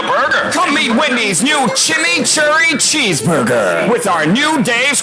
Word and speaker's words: chimichurri: Introducing Wendy's new Chimichurri Cheeseburger. Chimichurri. That's how you pronounce it.